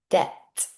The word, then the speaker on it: debt: debt What's the silent letter here? debt Good. It's not dept. It's debt.